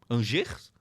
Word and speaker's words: Angers: É assim que pronuncia Angers porque é francês, só Deus sabe.